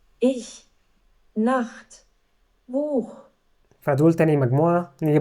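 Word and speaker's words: Nacht: كدهش شش وبعدين عندنا والها وممكن هنا ننطقها ساعات خا وساعات بننطقها شين خفيفه فهنا اول مثلا عندنا اش بتنتنطق زي الشين اش تاني كلمه عندنا النخط اللي هو الليل نخت هنا بتتنطق زي الخاء او بخ اللي هو الكتاب بخ فنسمع بسرعه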